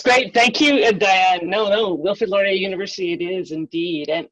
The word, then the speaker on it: Wilfrid Laurier: canada and i hope i didn't butcher the pronunciation of your institution great that's great thank you no no wilfred laurier university it is indeed and you know i